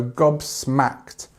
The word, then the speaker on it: gobsmacked: to be Gob smacked this sound is O okay and this is a a so Gob smacked and actually we use this as the stronger part of the word okay excellent I was